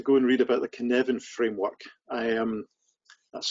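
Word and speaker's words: Cynefin: second is to go and read about the kinevin framework i am that's spelled with that f c y n e f i n uh can evan framework is absolutely fantastic it's a great harvard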